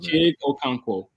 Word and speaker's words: Chig Okonkwo: Chig Okonkwo.